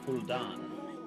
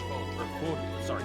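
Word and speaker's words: Fódlan: Also, How do you I looked up, and the game is set in Fuldan. Fodlan. It's pronounced Fodlan.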